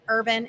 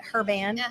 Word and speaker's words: Herban: 3078 Maddox way um Urban h-e-r-b-a-n a lot of people pronounce it her band whatever you want to pronounce it as urban urban whatever just come on